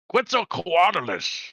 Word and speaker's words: Quetzalcoatlus: pronounce that damn thing? Quetzalcoatlus. Quetzalcoatlus.